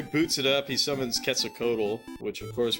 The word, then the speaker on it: Quetzalcoatl: So he boots it up, he summons Quetzalcoatl, which of course when we were kids we would call it Quetzalcoatl, but I'm pretty sure it's pronounced Quetzalcoatl.